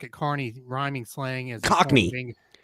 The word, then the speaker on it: cockney: carney's rhyming slang as cockney it's carney no it's cockney no i don't think so what it what are you looking at it's not it's it looks like that but it's not pronounced that oh you sure i'm